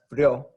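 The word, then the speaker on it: frío: us which syllable distress it tells us to separate our vowel sounds so we want to have an e sound and we haven't we want to have an o sound here that's not the case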